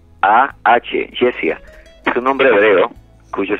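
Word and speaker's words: Jesiah: Me preguntan de su nombre, se llama Jess, mi hija se llama Jessia, se escribe J-E-S-I-A-H, Jessia.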